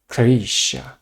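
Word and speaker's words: крыша: The first one, roof, in Russian is called krysha, krysha, krysha. As we can see, k, just pronounce as k.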